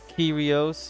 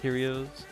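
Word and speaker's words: Kyrios: I pronounced it curios. Yeah. Okay. Curios. Yep. like Cheerios. But curios Yeah.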